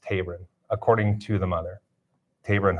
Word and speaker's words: Taberon: She expressed to us, and we said that we would pass along, that his name is pronounced Taberon, first name pronounced Taberon, according to the mother, Taberon Honie.